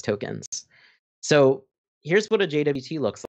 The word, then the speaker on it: JWT: token or a jwt you might hear them pronounced as jot i personally just like to say jwt but you'll hear them